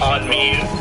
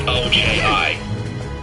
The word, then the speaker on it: Onmyoji: On Miyu. Oh, I'm pronouncing that wrong. Onmyoji.